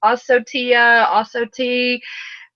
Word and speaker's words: Ocotea: high blood pressure, is Ocotea. Ocotea, and everybody pronounces it different. Ocotea, Osotea, lots of different pronunciations. So don't kill me for pronouncing it different than you do.